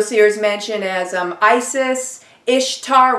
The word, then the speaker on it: Ishtar: You'll see her mentioned as Isis, Ishtar, which is pronounced Easter, which is not a coincidence.